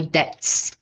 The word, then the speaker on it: debt: I paid off all my debts. Essa palavra tem o B mudo, a pronúncia dela é debt, ok?